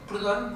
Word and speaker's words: Proudhon: Proudhon como si pronuncia realmente.